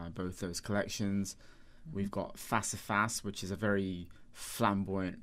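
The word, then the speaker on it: Face à Face: And you spell that F-A-C-E? Face, with an A and then face, yeah. But it's pronounced Facifas, but yeah.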